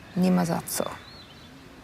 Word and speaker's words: Nie ma za co: Nie ma za co.